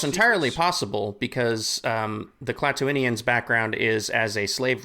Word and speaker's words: Klatooinians: fans because we saw, is it Klatooinians or Klatooinians? I saw Klatooinians. Okay, Klatooinians. Okay. That's how they say it in the audiobooks from Legacy of the Force anyway.